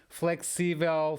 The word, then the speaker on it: flexível: Então, novamente, palavras terminadas em L, nós vamos colocar a sílaba tónica na última sílaba, a não ser que existam acentos nessa palavra. Flexível, flexíveis, previsível, previsíveis, tangível, tangíveis.